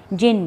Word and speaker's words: genie: जिन बोलते हैं, ठीक है। बट यहाँ आपका प्रोनाउंसिएशन जो कहलाएगा वो क्या कहलाएगा? GENIE, जीनी। इसको हम क्या बोलेंगे? जीनी, ठीक है।